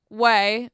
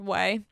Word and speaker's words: OUAI: different product though so whey is the company's name o u a i o u ai it's pronounced whey so i have their